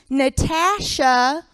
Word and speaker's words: Natasha: It's actually pronounced Natasha with a short A, not Kyle.